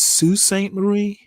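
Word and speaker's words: Sault Ste. Marie: Is it I think it's Sue St. Marie uh just over the Michigan Ontario or is it so St. Marie? I I think I've heard it pronounced Sue.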